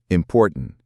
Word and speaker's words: important: The T in important is after an N. So it might soften or disappear. Important.